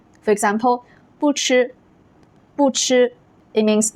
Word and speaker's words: 不: In those cases, 不 keeps its original first tone when it is followed by first tone, second tone, and also third tone. For example, 不吃, 不吃, it means not to eat.